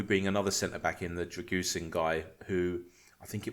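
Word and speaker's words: Drăgușin: That's because everyone on podcasts was saying it wrong. Now we know it's pronounced as Dragusin.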